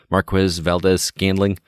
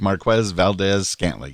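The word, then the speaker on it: Marquez Valdes-Scantling: I can never remember how to pronounce it. Marquez Valdez-Scantling. It's a mouthful. MVS rolls off the tongue much easier. We'll go with Marquez Valdez-Scantling.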